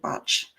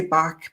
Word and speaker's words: Bach: Edward Botch. I know people say Bach, but it's he pronounced it botch.